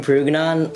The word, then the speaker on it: Purugganan: |Steven, how do you say your last name?\ -Purugganan.